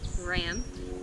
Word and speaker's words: Ram: The Sanskrit mantra for this chakra is Ram, R-A-M, Ram, but it's pronounced Ram.